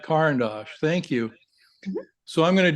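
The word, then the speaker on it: Caran d'Ache: crayons yeah because uh Sarah how do you pronounce the uh the crayon box what is that oh it's car andos caros that's right caros thank you so I'm going to do that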